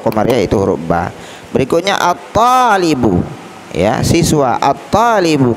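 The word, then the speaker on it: الطالب: Berikutnya at-talibu, ya, siswa, at-talibu. Kenapa langsung ke to membacanya? Karena to termasuk huruf Syamsiyah, tidak boleh dibaca al.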